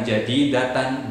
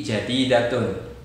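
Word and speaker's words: جديدةٌ: Bacanya juga bukan jadidatan, bukan jadidatin, tapi jadidatun, mengikuti kata sebelumnya, sayyaratun jadidatun.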